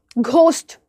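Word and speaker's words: ghost: पढ़ा ही होगा आपने आर्किटिक कोरस एंकर टेक्नोलॉजी सी पढ़ते हो लेकिन एच नहीं पढ़ते घोस्ट घोस्ट केओस ई को एच पढ़ते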